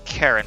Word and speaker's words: Charon: Charon? Hold on. I think it's Karen, but I just want to make sure, because I like getting the proper pronunciation. Karen. Karen! Ah, Karen, yes.